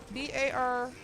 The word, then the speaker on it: Barnabas: There's no I in there. That's spelled. B-A-R-N-A-B-A-S. Barnabas.